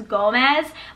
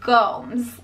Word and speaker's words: Gomes: They always think that it's Gomez, but it's Gomes.